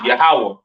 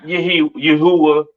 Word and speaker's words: Yahweh: There's no A sound in the Hebrew, all right? The characters are I, Ba, Ga, Da, Ha, Wah, so forth and so on, right? So the Lord's name is Yahweh, not Yahuwah, or not Yahweh, all right? Yahweh.